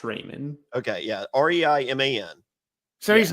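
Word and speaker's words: Reiman: I think it's pronounced Raymond.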